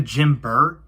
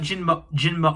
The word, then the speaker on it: Jinba: So next is the Jinba arms. Now, I said Jinba instead of Jinber because Jinber is a polymerization of Jinba.